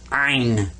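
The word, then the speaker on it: عين: this guy's name is ein in iron you kind of squeeze the back of your throat when you pronounce this one and i i was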